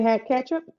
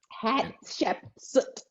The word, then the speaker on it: Hatshepsut: Did you say hat ketchup? What did you just say? That's not at all what I said. What did you just say? I tried my best to pronounce whatever you said. Hatshepsut.